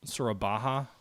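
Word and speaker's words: Surabaya: going to land that's at sorba sura baja that's how you pronounce it the fort level is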